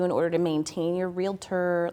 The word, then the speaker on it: realtor: To be a realtor, which you have to say it like that, right? That's the trademark way, realtor, is different.